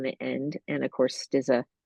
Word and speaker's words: Stizza: My first name is with an E on the end, and of course, Stizza is spelled just like pizza without the P, as Stizza.